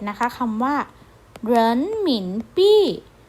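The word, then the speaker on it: 人民币: คะ คำ ที่ 7 นะ คะ คำ ว่า เหรินหมินปี้ เหรินหมินปี้ นะ คะ ก็ จะ เป็น สกุล เงิน จีน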